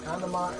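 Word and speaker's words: けん玉: Kandama is how you pronounce it in Japanese, but...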